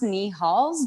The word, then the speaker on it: Nihals: Yeah, so it's pronounced Nihals, but when I receive new light beings, like the Lyrans, they don't say it. I see the word, so I was calling them Nihals for like the longest time, and I was